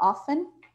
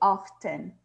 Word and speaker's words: often: Ou você pode falar com o T, often, often. Ok? Então, often or often. O mais often é often. O mais frequente é often.